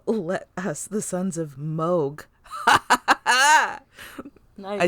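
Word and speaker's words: Mogh: Come, let us, the sons of Moog.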